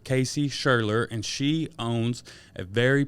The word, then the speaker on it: Scherler: how do you say your last name shirley shurler casey schurler and she owns a very popular business in